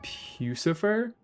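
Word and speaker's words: Puscifer: The remedy by pucifer like Lucifer with a P.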